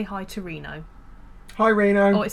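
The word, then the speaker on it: Reeno: a reason my name I spelt my name phonetically because I was gonna spell it RI and oh I thought it looks too much like rhino so I put two E's so you can read it as RINO and it makes sense okay so how busy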